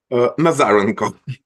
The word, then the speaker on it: Nazarenko: may also correct me with the F the pronunciation of your name nazareno nazareno okay so okay so hello yes covering